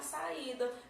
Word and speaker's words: saída: Recebe acento quando a segunda sílaba desse hiato seja a tônica e que seja I ou U. Vamos lá. Saiu. Sa é a primeira sílaba tanto da palavra quanto da vogal, tá? Do hiato, porque o hiato ele é formado por duas vogais. Então, é a segunda sílaba tônica e ele está sozinho.